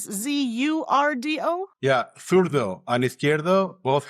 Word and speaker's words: zurdo: The other one, you spell it with the letter Z, right? Is it Z or S? Z-U-R-D-O?